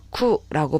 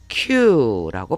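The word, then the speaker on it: 九: 일본에서의 아라비아 숫자 이 9는 쿠라고 발음하기도 하고 큐라고 발음하기도 합니다.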